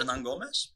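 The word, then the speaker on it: Hernangómez: Hernangomez.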